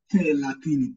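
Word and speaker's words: thelathini: And the letter TH is the same way we pronounce it in English, like the word think. TH. Think. So, we'll say te latini, te latino, or te luigi.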